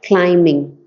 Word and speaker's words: climb: the pronunciation of climb climb clim clim climb yeah actually you have corrected this before for me also um uh climbing so in her Souls climbing Beyond mortal time you don't pronounce the b b yeah okay it's